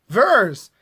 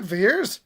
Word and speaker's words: Vers: But why is one E pronounced as two E's? Vers, not Veers. Veers makes no sense.